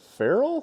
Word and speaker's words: ferrule: as we tighten the ferrule. Is that the word? You guys are feral for watching this stuff. I never thought of that. Ferrule, F-E-R-R-U-L-E, and F-E-R-A-L, pronounced the same.